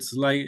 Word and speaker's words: Thelen: Timo, how to pronounce another name, Thelen? Thelen, it's a normal.